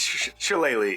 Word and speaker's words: shillelagh: It's shillelagh is how you say it.